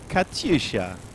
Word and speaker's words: Katyusha: Katyusha. Katyusha. The howl of the Katyusha. Yoink, we should learn to sing the song. There's a beautiful song that goes with the Katyusha that we could learn to sing.